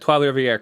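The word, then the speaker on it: Trois-Rivières: For what it's worth, you got Trois Rivières correct. Nicely done. Oh, I'm improving on my French city names. After Benjamin and I ragged you on that last time you tried saying Trois Rivières.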